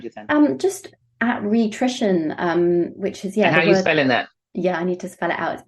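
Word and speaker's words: Rhitrition: to spell it out it's r h i t r i t i o n it's the word nutrition and re-rhi at the beginning but there is free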